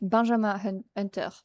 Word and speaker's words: Benjamin Hunter: In French, you pronounce that Benjam Hunter.